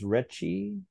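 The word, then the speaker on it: Rechy: Now the writer, is his name pronounced Retchie? John Retchie, yes.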